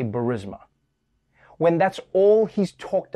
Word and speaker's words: Burisma: I mean, Trump himself can't even pronounce it. 8 months after his alleged meeting with the Burmese executives, So this Burmesia, they say, pronounce it Burmesia.